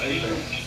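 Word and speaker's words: Hebert: It's called A-Bears? Yeah, it's spelled Herbert, but it's pronounced A-Bears.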